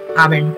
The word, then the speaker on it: Abend: D is pronounced as T. Anything that ends with D. Abend. We have Abend. How do you pronounce this? Abend. Yeah, Abend. It ends with T.